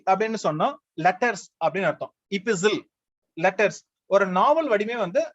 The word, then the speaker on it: epistle: ஆனா ப்ரொனன்சியேஷன் கொஞ்சம் டிஃபரெண்ட். அந்த டி வந்து சைலண்ட், EPISTLE, டி சைலண்ட். இபிசில், ஆனா இபிஸ்டாலரி அங்க வந்து டி ப்ரொனன்ஸ் பண்ணுவோம்.